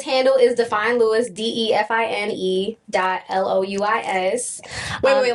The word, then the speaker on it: Louis: People be calling him Louis, but it's Louis. I put some respect on it. It's Louis, just like it's Pierre, just like it's Jean-Baptiste, just like it's Jean-François, just like it's Pétion, just like it's Claude. Say it right.